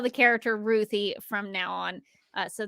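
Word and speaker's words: Ruthye: and tom king said she's named after my three-year-old niece ruthie so that's how i pronounce it but you be you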